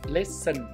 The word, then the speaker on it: listen: อ ก เ สี ย ง ว่ า listen ตั ว t ใ ช่ ไ ห ม อ อ ก เ สี ย ง เ ป็ น listen ตั ว นี้ ไ ป เ ล ย